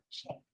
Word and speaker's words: Shea: And is it pronounced Shea or Shea? Shea. Just like Shea Stadium.